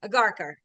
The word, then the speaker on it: Agharkar: So Agharkar, I got it now, right?